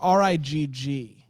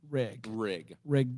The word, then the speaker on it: Rigg: It's RIGG. Double G. Rig Dilby. Rhymes with rig.